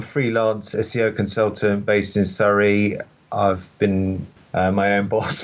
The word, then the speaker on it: Surrey: American listeners over there, Surrey is a county in the UK. It's not what we say when we're apologising. It's spelled Surrey. It's a beautiful county, isn't it?